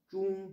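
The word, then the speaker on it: 中: On le verra plus tard, ce caractère, l'étymologie, mais ça va se prononcer. Zhong pour celui-là, première syllabe, premier caractère, et Guo, le pays, l'empire du milieu, la Chine.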